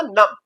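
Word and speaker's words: numb: एम in final position जब final position में बी होता है एम के बाद तो ये बी साइलेंट रहता है। जैसे एन यू एम बी नम ये नम नहीं आएगा। ये होगा नम।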